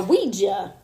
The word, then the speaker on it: Ouija: from last week a Ouija hey you said it right not OU it still sounds like